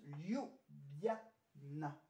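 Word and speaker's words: Ljubljana: le a le N le a ça se prononce libiana laisse tomber euh la Loni c'est tout simple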